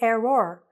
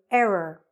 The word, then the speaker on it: error: Don't make an error when you're pronouncing the word error. Don't say error, say error, okay?